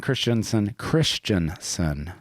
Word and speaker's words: Christensen: Willie Vernon Christensen. That's right. Arms. That's how you pronounce it.